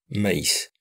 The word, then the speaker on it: maïs: Sans tréma, il faudrait dire mais, M-A-I, mais, mais avec le tréma, on prononce maïs.